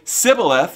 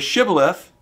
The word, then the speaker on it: Shibboleth: And so if they say Sibboleth instead of Shibboleth, guess what? You're going to die. And so all the ones who couldn't pronounce H were put to death.